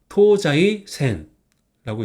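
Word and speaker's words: 東西線: 사이가 똑같이 타마가 됐어요 그래서 자이라 있습니다 그래서 토자이 센라고 있습니다 그럼 한번 읽어 볼까요 이거는 토 이거는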